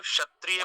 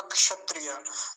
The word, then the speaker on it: क्षत्रिय: लेकिन जब शुरुआत ही इससे हो किसी की, जैसे आपने ही बोला क्षत्रिय, तो फिर हम क को तो नहीं बोल पाएंगे, उतनी स्पष्टता से नहीं आता, लेकिन बहुत हल्का आता है।